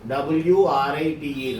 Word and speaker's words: write: W-R-I-T-E, write. W is silent.